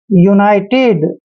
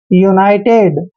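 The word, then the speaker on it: United: यू ही करना है यूनाइटेड ध्यान रखना है यू के बाद अगर कोई कंसोनेंट आए और ठीक उसके बाद वावल आता है तो यू का उच्चारण यू ही करते हैं इसको पढ़ेंगे यूनाइटेड अब देखिए यू एन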